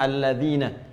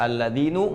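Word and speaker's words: الَّذِينَ: Karena itu dibacanya alladzina. Kita tidak baca alladzinu, enggak ada alladzini, selalu mabni tetap dalam harakat ini.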